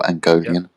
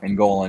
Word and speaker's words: Angolan: Or Angolian. Oh, good. On, brother. Angolan, yes. That's how you say it.